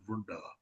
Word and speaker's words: Vrinda: It is like Vrinda, but it is pronounced as Vrunda. Okay.